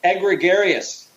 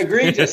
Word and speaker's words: egregious: you feel about that and and I believe egregarious he also oh yes EG or egregious as it's pronounced egregious sorry egregious I KN how nice grammar we